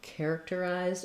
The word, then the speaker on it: characterized: character will help you we have first syllable stress so characterized letters a r in this say the same sorry about that a bird just hit my window it shocked me um letters AR say the air sound just like we